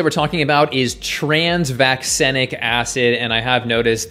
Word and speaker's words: vaccenic: So vaccinia, vaccenic, I'm pretty sure that's how it's pronounced.